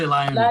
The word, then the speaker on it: LIUNA: Is that Liuna? Liuna, we say Liuna.